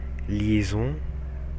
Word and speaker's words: liaison: Quem pensou que aquele se pronuncia liaison, tá certo.